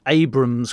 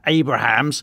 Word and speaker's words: Abrams: old, but at least I can pronounce Abrams correctly and not keep going on about Abrahams.